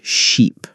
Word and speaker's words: sheep: First, let's work on ship and sheep. Ship, short I sound. Ship. Sheep. Long e sound.